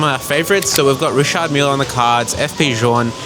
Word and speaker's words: Richard Mille: They're confirmed Richard Mille is exactly how you pronounce it, so I think that's one up for us.